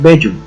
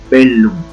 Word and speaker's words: bellum: que traduce guerra, nosotros no la leemos bellum, sino la leemos bellum, y pronunciamos primera sílaba bell, segunda lum. Listo, sigamos entonces con nuestro alfabeto griego.